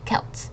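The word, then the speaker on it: Celt: s okay good try it's actually pronounced kelt so it's a hard C okay try again try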